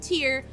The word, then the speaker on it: TYR: but they're the me the tyr which they pronounce it tyr use um goggles the reason being is i